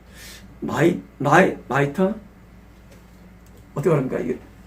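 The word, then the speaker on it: mitre: 발음이 마이터 어떻게 말합니까?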